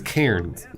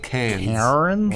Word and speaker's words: Cairns: Wait, she means Cairns. Yeah. Not Cannes. I mean I think how she pronounces it is probably how it's pronounced. I disagree. Oh, okay. It's got an R in it, Australians.